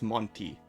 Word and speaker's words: Monty: It's not Monte, it's Monty. Well, hello, welcome, thank you for the raid.